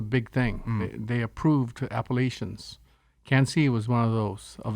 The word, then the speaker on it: Quincy: Cancy is spelled like Quincy. Can't see.